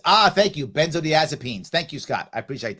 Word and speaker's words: benzodiazepines: all right all right um Scott says it's pronounced benzodiazepines ah thank you benzodiazepines thank you Scott I appreciate that good there